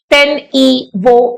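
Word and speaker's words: Tenyi Vo: आपको जैसे प्रोनाउंस करना है आप कर सकते हैं, तेन ई वो, इस तरह से प्रोनाउंस किया जाएगा।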